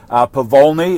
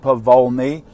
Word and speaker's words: Pavolny: Pavolny, it's Pa-Vol, V-O-L-N-E is the way you pronounce it, Pavolny.